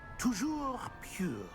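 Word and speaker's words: toujours pur: scrope's French is most pitiful oh very well tour pure there is another matter scrope I confiscated this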